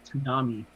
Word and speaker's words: tsunami: You say tsunami. Is that on purpose? Tsunami? Is that sorry? How do you say it? Tsunami. I pronounce the T.